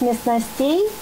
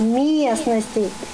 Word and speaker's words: местностей: Мальчик произнес местностей, а правильно произносить местностей. И козел, который гулял по этой долине, он же не умеет говорить. Он произнес так, как мог. То есть подсказал, что ударение на «ме» ставится.